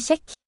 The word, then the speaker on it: kjekk: Mannen hennes veldig kjekk. Check. Kjekk. Check. That's a fun word in Norwegian. Check. The KJ makes kind of the sh sound.